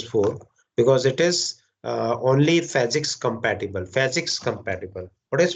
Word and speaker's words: POSIX: Okay, so it is written in standard documentation that do not pronounce it as POSIX or some other variation. Its pronunciation must be PHYSICS.